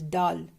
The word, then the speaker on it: dal: uh telling my people why do you call it doll when it is dal but then it's away the east indians or i don't know the way we pronounce it it's doll sweet so fine let's get